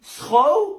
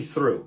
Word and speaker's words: through: So then this must be throw? No, come on, that's obviously through. Through.